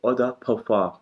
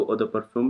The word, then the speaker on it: eau de parfum: The next form जो है वो है eau de parfum। ये फ्रेंच प्रोनाउंसिएशन है eau de parfum जिसको पढ़ते हैं। इंग्लिश में आप इसको eau de parfum भी पढ़ सकते हैं, बट जब फ्रेंच